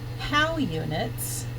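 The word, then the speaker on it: Haugh units: so that's really how those eggs get used how units and that's how you pronounce that H a ugh it's how how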